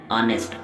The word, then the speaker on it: honest: याद रखिए, इसे पढ़ना है हमें ऑनेस्ट, हॉनेस्ट नहीं, हॉनेस्ट गलत होगा, यहाँ पर एच साइलेंट है, इसलिए हम पढ़ेंगे ऑनेस्ट सर्विंग मैन।